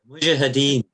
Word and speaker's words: Mujahideen: How do you pronounce them again? Mujahideen.